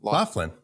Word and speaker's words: Loughlin: pronounce someone. Loughlin? Loughlin.